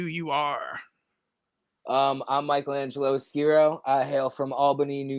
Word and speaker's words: Skero: for the longest time he used to call me skirio and I was like bro it's skiro like damn hell yeah